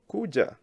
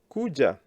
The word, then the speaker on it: kuja: Kuja. Very important. Kuja, 2-syllable verb. Ku and ja.